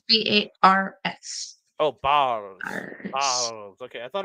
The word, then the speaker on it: Bars: The Boz.